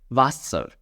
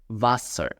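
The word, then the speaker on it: Wasser: Then you have W and you will pronounce it as V. Vaser Vaser Vaser means water.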